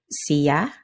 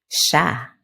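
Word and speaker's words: siya: This happens in other words too like in sometimes sounds like or dian or dian can come out as jan and sia or sia might be heard as sha.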